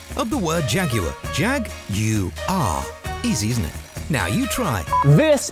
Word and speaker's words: Jaguar: state of charge and here is the correct pronunciation of the word Jaguar jag you are easily now you try this is a 2012